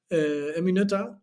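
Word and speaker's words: Emmy Noether: es una matemática alemana en mi nota se pronuncia en mi nota es una matemática alemana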